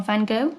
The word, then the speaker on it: van Gogh: And that apparently is a quote from Vincent van Gogh. Or Van Gogh, if you're that way inclined.